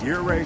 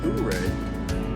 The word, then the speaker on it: Ouray: I know it looks like it should be pronounced Ouray. It's actually Ouray.